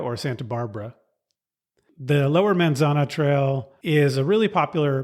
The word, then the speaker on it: Manzana: It's called the Manzana Schoolhouse. And now I'm tempted to pronounce manzana in the Spanish pronunciation, but I'll try to do the English pronunciation, which sounds wrong to me.